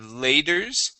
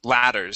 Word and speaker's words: ladders: word step ladds uh this is going to be a last sound instead of laters it is ladders step ladders step ladders